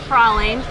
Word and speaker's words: praline: is a pecan praline I just called Cory Martin to confirm the correct pronunciation of this tree and he said definitely was prowling I'm so glad I